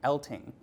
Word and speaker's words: Eltinge: Now, to clear this up, Elting is spelled E-L-T-I-N-G-E, which has historically caused many people to pronounce it Eltinge, but in a line that predates Liza Minnelli's Liza with a Z by about 50 years, Elting insisted it was Elting with a G, not Eltinge with a J.